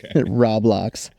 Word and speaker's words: Roblox: the sake of this episode I will say Roblox just just I hope I'm right but yeah okay roblocks sound like an if it's pronounced roblocks Rob roblocks uh anyway okay so